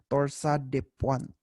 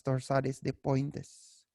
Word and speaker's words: torsades de pointes: but that is pronounced that is a French term which me which is pronounced as torsade dep Point okay so but it is pronounced as torsades de Pointes so that is a